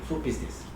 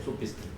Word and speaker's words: 소피스테스: 그 소피스테스를 영어식으로 발음한 게 소피스트인데, 소피스트. 적어도 이제 이 고대 철학, 힐랍 철학의 중요한 개념들은 힐랍에 가깝게 발음하고 표기한 게 맞아요. 그래서 유독 이것만 영어식으로 소피스트 할 일이 아니야.